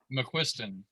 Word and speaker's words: McQuiston: pronounce your last name correctly how do i pronounce it mcquiston mick question nick christian all right i'm a